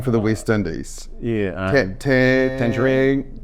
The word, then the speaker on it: Tagnarine: Tangerine, was it? Tagnarine? Tagnarine.